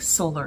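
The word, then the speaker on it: Soller: solar top and dress i think solar is how you pronounce it s-o-l-l-e-r it's a v-neck um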